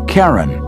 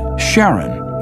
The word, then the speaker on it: Charon: christie suggested the name karen after the ferryman of Pluto's underworld in greek mythology but preferred to pronounce it sharon more like his wife's name charlene from the motions of pluto and charon astronomers could work out